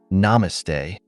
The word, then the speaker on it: namaste: Between gasps of breath, my friend managed to say, "It's pronounced namaste."